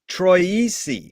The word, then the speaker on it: Troisi: us as always and today we have troisi is that the correct way to pronounce it yes perfect thank you thank you